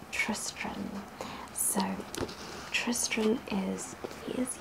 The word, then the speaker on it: Tristran: and the utterly impossible so i mispronounced his name he's tris trim not tristan tristran so tristram is he